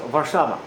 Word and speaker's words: Warszawa: I don't know how you pronounce it. How do you say Warsaw in? Warsaw, Warszawa.